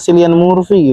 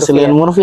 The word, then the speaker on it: Cillian Murphy: Anjing, kenapa nggak Cillian Murphy gitu? Iya, cocok ya. Iya, Cillian Murphy harusnya. Bukan, salah. Dia pernah koreksi semua. Cillian Murphy.